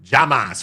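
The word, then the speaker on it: jamás: yelled from the gallery, Llamas, which Spanish word translates to never, but is pronounced like Hamas in English, also the name of the Palestinian terror organization, Hamas.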